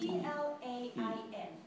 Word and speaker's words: plain: And so, because A and I are together, I then becomes silent. And so that gives the vowel before a long sound, so it would be spelled, it would be pronounced plain.